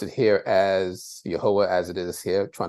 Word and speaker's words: Yahweh: name of God is um specified and we pronounce it here as yahwah as it is here trying to highlight it